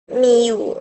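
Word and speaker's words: μ: Selanjutnya fungsi keangkotan ini disimbolkan dengan ini nih cara bacanya miu miu miu atau miu adalah grafik atau rumus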